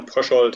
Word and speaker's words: Pröschold: and your introduction was quite fine regarding the pronunciation of my name it's been prashold and uh the book is so it's about